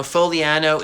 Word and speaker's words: Fogliano: Foliano is spelled Fogliano.